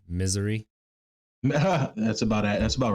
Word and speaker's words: Missouri: We're from Missouri, and I believe it's pronounced misery.